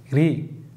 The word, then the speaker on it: riz: Alışveriş sepeti, panier, panier, pirinç, riz, riz, z telaffuz etmiyoruz, riz, riz, erişte, nuit, nuit, nuit, tahıl gevreği, cereal, cereal, patlamış misil, popcorn, popcorn.